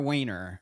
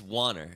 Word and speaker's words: Wanner: What is it, Wanner or Wainer? It's good. You should leave this in, actually, because everybody asked this question. Yeah. It's Wanner. It rhymes with honor. So Wanner rhymes with honor.